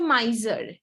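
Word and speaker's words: miser: আচ্ছা, এই ওয়ার্ডটার প্রোনাউন্সিয়েশন হচ্ছে মাইজার।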